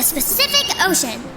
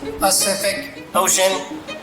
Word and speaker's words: Pacific Ocean: with your juvenile game snoozer is exploring the specific ocean inaccurate it is pronounced pacific ocean p a c i am incapable of